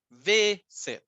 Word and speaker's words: visit: La palabra visit, claro, tiene consonante, vocal, consonante, pero la forma en la que pronunciamos es visit. La fuerza de voz está en la primera sílaba, no en la última.